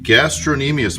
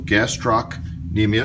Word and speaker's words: gastrocnemius: These are the two bellies, the medial and lateral bellies of the gastrocnemius muscle, gastrocnemius, sometimes you pronounce it that way.